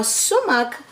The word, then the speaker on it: sumac: the way it's pronounced it's is at It's pronounces s u m a c now sumuk um is actually a berry that grows in